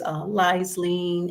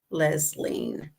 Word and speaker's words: Lesline: And all through elementary school and junior high school and high school, I was always Liesleen and Leesleen. The name is pronounced Lesline.